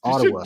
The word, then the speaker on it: Ottawa: And I was driving to Kansas City listening, and I'm like, Paul, you're not saying it correctly. It's Ottawa. You should have called him.